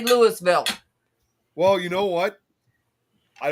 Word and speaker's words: Louisville: And it's it's spelled the same way like you'd see like for Louisville, Kentucky, but it's actually pronounced Lewisville over there.